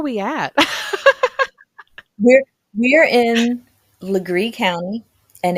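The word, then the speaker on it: Laurens: where where are we at we're we're in lree county and it's spelled like leair but South Carolina cannot um pronounce anything correctly especially if it's hugenot French so it is actually pronounced lree and the town is called Lower Conger okay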